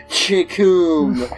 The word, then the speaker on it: Chikoom: You're supposed to be a And before I attack him, I say, the name is Chikoom. It rhymes with doom, and you're gonna be dead all too soon.